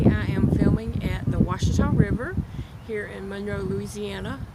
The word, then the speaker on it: Ouachita: in monroe louisiana and ouachita river that is spelled o-u-a-c-h-i-t-a i know it doesn't um the sound you know you try to pronounce it it doesn't sound like washington but anyway that's the